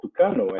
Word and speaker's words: Tucano: The aircraft called Tucano, as it's pronounced in Portuguese, and the Super Tucano.